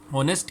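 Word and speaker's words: honest: is dash ऑनेस्ट मैन ऑनेस्ट के spellings के अंदर एथ जो है वो साइलेंट है और इस तरह से ओ एन ई एस T sound पैदा होगी वाउल साउंड पैदा होगी जिसको हम ऑनेस्ट कहते हैं तो इस तरह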